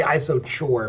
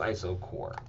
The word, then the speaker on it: isochore: I know you want to say iso chore but it's pronounced iso core.